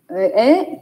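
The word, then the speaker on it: へ: Trong bảng chữ cái các em đọc là ha hi hư hề hô, đọc là hê. Nhưng mà vô câu mình không đọc là hê nha. Mình đọc là ế.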